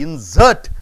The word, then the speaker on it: insert: This S-E-R-T, insert, it is a verb. Insert, it is a noun, right, sir? Noun first syllables are stressed, and for the verbs, the last syllable is stressed.